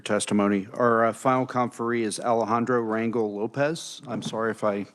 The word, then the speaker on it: Alejandro Rangel Lopez: Our final conferee is Alejandro Rangel Lopez. I'm sorry if I butchered your name, sir.